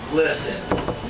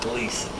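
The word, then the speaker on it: Glisan: I've met descendants of the family, both sides of the family, and they each pronounce it different. What about Dr. Harvey Glisson? It is Glisson, not Gleason.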